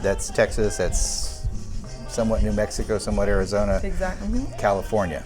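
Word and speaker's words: Méjico: They follow the Christmas tradition from Mexico, and they're not Mexico, they're Mexico. So that's another thing that I learned how to pronounce Mexico the proper way. It was Mexico, and I also learned that it's not even spelled M-E-X-I-C-O, it's M-E-J-I-C-O.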